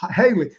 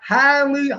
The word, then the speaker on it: Halle: a good job but haley i always say her name my wife always tells me boy you're saying the name wrong like it's like highly haley barry i got